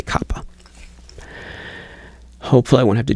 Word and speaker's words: COPPA: And I pronounce it COPPA because it's the Children's Online Privacy Protection Act. It's not the Children's Own Line. It's not the Children's Own Line, it's Children's Online. So I say COPPA.